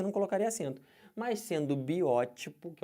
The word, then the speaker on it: biótipo: que fala isso biótipo o pessoal fala como Biotipo tá errado o certo é biótico aí eu sou um